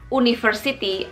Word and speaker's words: university: University and Unicorn n meskipun diawali dengan e huruf vokal atau vowel tapi dia bunyinya konsonan guys bunyinya bukan University atau Unicorn tapi bunyinya